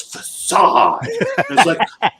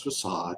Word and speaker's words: facade: knew the word facade they were like it's facade okay yeah tell me what's he ever heard